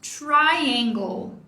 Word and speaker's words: triangle: Próxima palavra, triangle. A primeira sílaba é a tônica, então o tracinho tá aqui para nos mostrar isso.